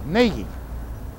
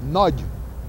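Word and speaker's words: Nagy: Anyway, he is the only one who was was pronouncing his name correctly. It was naggi. They Now, if you pronounce it in Hungarian, in Hungarian, it's pronounced nudge. But never mind that. These uh these sports casters will never get nudge. They can't even handle naggi.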